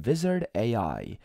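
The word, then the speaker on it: Vizard: go to Google and type in Wizard AI. Do not confuse it with W because it's spelled with a V.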